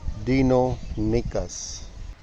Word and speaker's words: Deinonychus: Sorry, it is pronounced as Deinonychus.